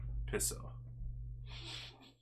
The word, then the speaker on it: peso: this talked about this oh it's peso but it's pronounced differently is it piso or this Filipino Paran okay that's right piso all right um ni